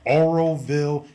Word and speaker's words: Oroville: this past Saturday morning in Auroville I want to make sure I say it right Oroville California which I heard from